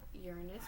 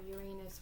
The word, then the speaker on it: Uranus: planet which of course it can be pronounced Uranus which is a quick bite or Uranus which is how I'm sure children would read it and it may cause